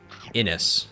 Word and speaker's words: Innes: Oh, Innes? Well, now I feel bad because I pronounced it in at least one video wrong. Innes.